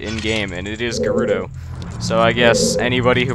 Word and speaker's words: Gerudo: King Gerudo again but a I used to pronounce it Giroud oh all the time but then because breath of